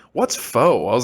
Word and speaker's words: pho: That is not how you pronounce it. It's pho." And I was like, that's not the way it looks. Like, I was like so confused. So, but no, it is pho, which is instinctively, I want to say pho. Like, that's just in my mind. That's the way I want to say it.